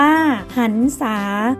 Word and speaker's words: หรรษา: ๆ กัน บ้าง นะ คะ หรรษา อ่าน ว่า หรรษา หมาย ถึง ความ รื่น คือ เรื่อง ความ ยิน